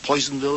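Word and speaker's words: Personville: Harvest, which is set in an industrial town, Psonville, Poisonville as it's pronounced described as as an ugly town in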